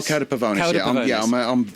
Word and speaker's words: Cauda Pavonis: One of them, I'm going to get the name wrong again. Cauda Pavonis. Oh, Cauda Pavonis.